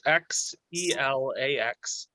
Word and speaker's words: Xelax: I will spell that for you. Thank Okay. you. It's Xelax.